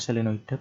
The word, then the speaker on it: selenoida: medan magnetik pada selenoid tulisannya selenoida bacanya selenoid besarnya induksi magnetik di